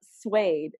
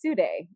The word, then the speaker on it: suede: Hers for mine is that I saw suede and I instantly thought it would be pronounced Sude.